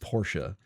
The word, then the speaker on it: Porsche: I'm going to flip-flop between, because Porsche is what I grew up saying, but it is technically pronounced Porsche.